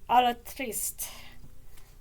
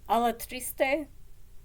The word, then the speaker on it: Alatriste: And Captain Alatriste. Or Alatriste. I think the E is pronounced. It's not French. In French it would not be pronounced, but I think I would go for Captain Alatriste.